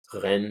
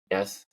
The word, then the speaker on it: Rennes: Rennes is how they say it. Rennes. It's almost like my mom's name, Renee, with an S, but it's 2 N's instead of 2 E's.